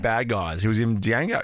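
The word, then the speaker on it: Django: guys he was in Dango Dango Dango was a bad guy that's how I pronounce it when he eats the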